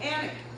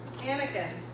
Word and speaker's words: Annika: And her name is pronounced Anika. Anika.